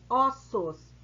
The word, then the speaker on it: ossos: Isso é o chamado plural metafônico, caso em que a pronúncia da vogal tônica é fechada no singular. Por exemplo, osso, e ela fica aberta quando ela vai para o plural, como ossos, olho, fechado no singular, olhos, aberto no plural.